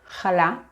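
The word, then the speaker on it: חלה: But if you want to pronounce these words properly as they are in Hebrew, you need to use the letter chet, making a ch sound. So it's just chala, chanukia, Chanukah.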